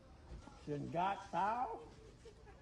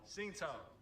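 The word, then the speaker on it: Tsingtao: Try to pronounce that. T. Shingatao. No. Was it? T. Getting Shingatao. sushi. No, the G is silent. T. Sindao. Correct? Say it again. Say it together. T. Sindao. Sing Tao.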